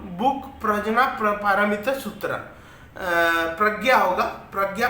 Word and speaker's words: प्रज्ञा: He wrote the book प्रज्ञा पारमिता सूत्र। प्रज्ञा होगा, प्रज्ञा पारमिता सूत्र। इसका स्पेलिंग प्रज्ञा लिखा जाता है इंग्लिश में, जे और एन को ज्ञा उच्चारण किया जाता है।